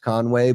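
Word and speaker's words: Conwy: I know out there in Wales, I think it's still pronounced Conway, but it's just there's no A in between.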